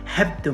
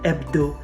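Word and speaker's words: hebdo: of complicating things because the letter h at the beginning of any word in french is silent you never pronounce it you don't say hebto madeira no you say ebdo the two letters a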